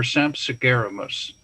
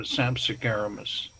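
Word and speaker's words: Sampsigeramus: Now, you won't recognize this when you see Sampsagarami or Sampsagaramus, but they couldn't pronounce the sound sh in Latin.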